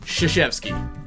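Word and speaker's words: Krzyzewski: oh even though he's called Coach K his last name apparently is pronounced shishevsky nice good pronunciation um I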